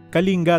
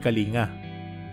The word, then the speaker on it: Kalinga: Kalinga talaga ang bigkas sa pangalan ng probinsya, hindi Kalinga.